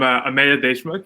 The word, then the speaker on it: Ameya Deshmukh: who you are yeah well start with properly pronouncing your name for us yeah so I'm a made a schmuck you guys get it right the second time